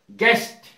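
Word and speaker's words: guest: W silent रहते हैं जैसे गेस्ट गेस्ट में यू साइलेंट है गेस्ट अतिथि इसका अर्थ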